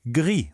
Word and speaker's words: gris: Notice that the S at the end of gris is completely silent.